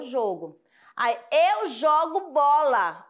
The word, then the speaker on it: jogo: pronúncia vai ser diferente João o jogo jogo eu falo jogo substantivo jogo começou tá bom o jogo aí escolhe seu time Predileto aí você vai falar o jogo aí eu jogo bola ó jogo né